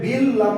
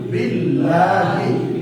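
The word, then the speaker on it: بِاللَّهِ: তো বা লাম যে বিল লাম খাড়া জবর লা আপনি বলেন বিল ল তাহলে হবে না, ভুল হবে।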